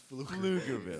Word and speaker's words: Pflugerville: All right, Pluckerville. go ahead, man. P is silent. It's Pflugerville.